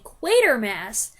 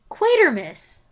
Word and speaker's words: Quatermass: into it by having some people say quater Mass While others say quatermus as in Christmas ah I hadn't even